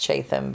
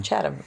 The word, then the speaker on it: Chatham: in our airbnb at what we thought was pronounced chatham but it's called channel chatham it's just texas saying things wrong but i apologize h is apparently silent i i apologize for